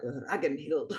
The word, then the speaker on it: Ragnhild: I thought it was Ragnhild, and then when I was doing that was kind of how I was thinking of it, and then I was looking into how to pronounce Germanic names. And the guy with the super cool accent was like, Ragnhild. I'm like, oh, okay, that's how you say it.